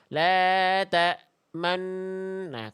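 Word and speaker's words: تأمنا: Asal kalimat ini tuh dibacanya la ta manuna. Nuna ada nu dan na. Digabung nu dan na-nya jadi enna. Jadi nu-nya dipakai isyarat bibir maju, namanya ismam.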